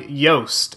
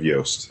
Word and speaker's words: Yoast: called WordPress SEO by yoast and it's I believe pronounced like toast but spelled with a Y so WordPress SEO by